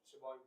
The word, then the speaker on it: Siobhan: For example, there is a very famous name, Siobhan. Siobhan. It's pronounced Shuan.